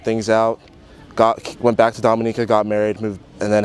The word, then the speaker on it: Dominica: And does the family go back to, it's Dominica? Dominica. How it's pronounced?